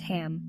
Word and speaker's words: HAM: Throat Chakra, chant HAM, pronounced HUM.